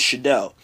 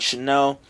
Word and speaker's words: Shadell: If you don't know my name is Shadell. And he kept calling me something weird, like Chanel.